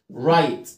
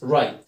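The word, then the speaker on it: right: زي كلمه راي، رايت. الاي جي اتش هنا بتقطعها لونج ايه؟ اي. ما قلتش فاي جيت، ما ينفعش. يبقى الاي جي اتش لما تشوفها في اي كلمه انطقها لونج اي، فايت، رايت. نكمل، دين شورت اي، ديست، تيست، دين تيست.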